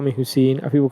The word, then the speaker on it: Hussain: But then the other one that's really messed up is they pronounce it right, Hussein, but they write it Hussian.